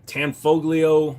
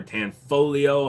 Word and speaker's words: Tanfoglio: the wall that is a tanfoglio or tan foglio or tan folio however you want to pronounce it appeal it's a Bullpup